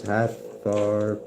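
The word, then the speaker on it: Hathor: Hathar pronounced Hatha is a goddess of light, joy and gratitude.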